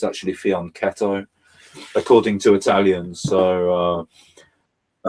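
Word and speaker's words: fianchetto: sit in here yeah fion some people say pronounced it faneto but it's apparently and I've asked Italians it's it's actually faneto according to Italians so uh um yeah so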